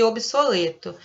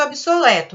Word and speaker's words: obsoleto: Segundo as normas gramaticais, a gente deveria pronunciar com E aberto. Obeso, coeso, obsoleto. Mas a gente não faz essa pronúncia, né? Segundo obras, né? Segundo escritores mais antigos, a gente deveria pronunciar com E aberto. Deveria ser obeso, coeso, obsoleto. Mas a gente fala obeso, coeso, obsoleto. A gente usa o E fechadinho.